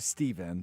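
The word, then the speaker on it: Stephan: Stefan it's actually Steven, but it's spelled S-T-E-P-H-A-N.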